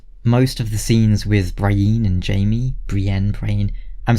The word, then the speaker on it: Brienne: of the scenes with Brian and Jamie Brienne crane I'm sorry I I'm used to saying Brian but I think I say it Brienne on the show then again